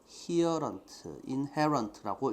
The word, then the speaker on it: inherent: 안에 갖고 태어난이라는 말이니까 인본이라는 말로 바꿔 쓸 수 있고 또 inherent라고 읽어야지 됩니다. here이 아니고 inherent.